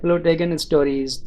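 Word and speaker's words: Plotagon Story: तो इसका नाम थोड़ा मुश्किल है, आप जो है प्ले स्टोर पर सर्च कर सकते हैं प्लोटेगन स्टोरीज। तो इसकी स्पेलिंग मैं आपको बता देता हूँ, PLOTAGONSTORY।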